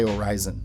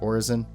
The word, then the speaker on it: Orison: zones below and yeah i say horizon as opposed to the more popular origin i don't agree with everything that chris roberts says but i do appreciate his pronunciation of that city i think horizon sounds more descriptive of the city in the clouds it rises above the